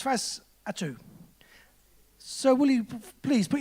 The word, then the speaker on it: Fausatu: I added an extra T by mistake, and I pronounced the name as FAUSATU, which is quite an interesting name, but it's not the right name. It's FAUSATU.